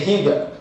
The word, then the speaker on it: Higa: second reason was because I wanted people to say my name right so people I want people to say hega you know if it